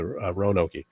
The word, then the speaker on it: Roanoke: Along with, a lot of the, and Bill, you mentioned Roanoke, or as you pronounce it, Roanoke, the values of that settlement that was founded by Sir Walter Raleigh all total his name.